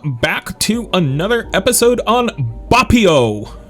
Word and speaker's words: Boppio: to another episode on bupio and yes i learned how to properly pronounce it from the dev himself uh if you join